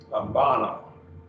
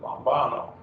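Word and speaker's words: λαμβάνω: Lambano, 3 syllables, lambano.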